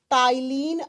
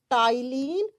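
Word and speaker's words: ptyalin: Ma'am लिख तो रही हो पी से। प्रोनाउंस कर रही हो टी से। बच्चा जब इसको प्रोनाउंस करते हैं तो पी साइलेंट हो जाता है। टी से करते हैं।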